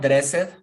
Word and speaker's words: dressed: So, it's not dressed. What is the pronunciation?